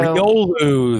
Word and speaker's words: Riolu: So, Riolu, that's how you say it.